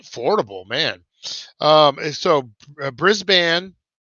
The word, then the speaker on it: Brisbane: on the Gold Coast near Brisbane pronounced brisban okay brisban um yeah uh M